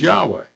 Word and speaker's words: Yahweh: I know there's other ways, Jehovah, and stuff like that, but in Hebrew, his name is Yahweh. YHWH. The original Hebrew only had consonants. They didn't have the vowels. So Yahweh is the best pronunciation.